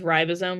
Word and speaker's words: ribosome: I say if you pronounce ribosome like rib, think ribs.